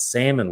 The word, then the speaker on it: salmon: about shrimp talking about salmon without the L being pronounced going back to my